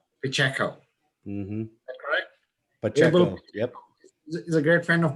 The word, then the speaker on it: Pacheco: today um it will please help me pronounce your last name please pacheco pacheco pacheco is a great friend of mine just that